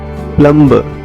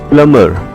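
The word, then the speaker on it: plumber: हमारे सोसाइटी के प्लंबर प्लंबर actually यह प्लंबर नहीं है प्लंबर है भी इसमें साइलेंट है प्लंबर प्लंबर जो जो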